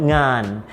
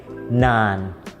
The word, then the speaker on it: งาน: The word งาน, I hear this word being mispronounced differently by different people. Sometimes they say /naan/ or /yaan/ or /gaan/ or /nyaan/ even, which are all incorrect!